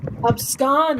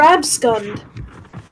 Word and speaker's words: abscond: else's case about pronunciation plus abscond is not that hard abscond that's what i've been saying i've been saying advanced or abscummed you've been saying abscond i have an accent